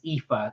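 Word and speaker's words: Aoife: Um or, just not just a smallie, it's epha. It's an Irish spelling.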